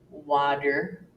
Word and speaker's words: water: Americans have the habit of pronouncing T in the middle of the word as if it were a D. For example, water, daughter, letter, bottle, computer, heater, and this usually happens when the T comes between two vowels.